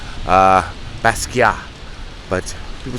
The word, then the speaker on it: Basquiat: that defied character characterization you don't have to pronounce the T at the end it's he was Haitian his parents were Haitian so it's a French pronunciation of his name uh Basia but people say basat